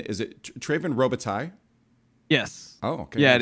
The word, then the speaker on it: Treyven Robitaille: For pronunciation, is it Treyven Robitaille?